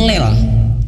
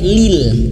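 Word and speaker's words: لِل: Kita baca lil itu kadang tidak sadar membacanya ke lel ya, lel, bukan lel tapi lil. Nah lil, nah ini kalau bacanya cepat misalkan in huwa illa dzikrul lil alamin, lil, nah lil, nah, tapi harus dipaksa bibir kita lil, nah lil, bukan lel ya.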